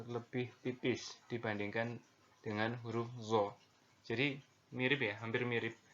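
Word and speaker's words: ظ: Nah, huruf zo ini diucapkan dengan menyentuhkan ujung lidah dengan dua gigi seri bagian atas, sebagaimana kita mengucapkan huruf dha. Jadi mirip sekali dengan huruf dha.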